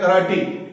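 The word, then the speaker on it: karate: इसका प्रोनाउंसिएशन है कराटी नॉट कराटे कराटी dictionary का सबूत है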